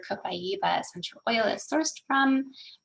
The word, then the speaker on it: copaiba: going to tell you the way we say it is copaiba like in um in brazil where copaiba essential oil is sourced